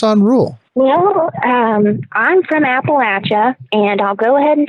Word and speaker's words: Appalachia: physician why focus on rule well I'm from Appalachia and I'll go ahead and tell you now a lot of people who aren't from the area mispronounce Appalachia so just know it's pronounced Appalachian or Appalachia I had some one case the other day